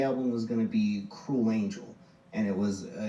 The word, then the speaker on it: Kruel: and it's pronounced cruel you know like the word cruel everyone always wants to